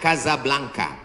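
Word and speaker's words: Casablanca: nama negaranya Maroko ibukotanya tulisannya casablangca cara bacanya Kadzab langka Kaza artinya rumah Blanca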